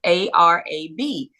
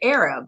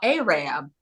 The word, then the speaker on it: Arab: there's a city a town in North Alabama that's spelled a r a b now before I worked in Huntsville I didn't know that City existed and so I would have said Arab like a or a region but it's it's